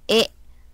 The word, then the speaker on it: へ: this he is used as a particle is pronounced as e okay for example uh means station okay station